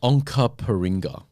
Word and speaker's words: Onkaparinga: The city of Onkaparinga. That kind of sounds like we're in Canada. You pronounced that perfectly.